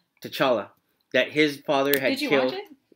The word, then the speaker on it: T'Challa: How do you pronounce Black Panther's name? T'Challa.